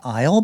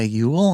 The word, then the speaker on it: Eull: Uh, I go by Isle, but some go by Ule. And I never usually correct people because, uh, the spelling of my last name is so wonky. Uh, Eu L. Uh, phonetically, it always comes out Ule.